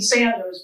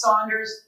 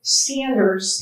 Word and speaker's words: Sanders: Okay, folks, it rhymes with Michiganders. They told us this. It is indeed Sanders, but half the population thinks it's Saunders. And as we like to say in Michigan, Sanders.